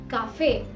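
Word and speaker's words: café: दूसरे वर्ड में काफे, जहां वो आ के पहले है, वहां उसे काफे बुलाया गया है।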